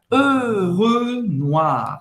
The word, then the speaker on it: Renoir: Olha a pronúncia. Renoir. Boca do O e fala E. E O em francês tem som de UA. Renoir.